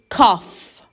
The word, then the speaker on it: cough: cold and a cough we pronounced these letters as f so this word is cough cough i didn't sleep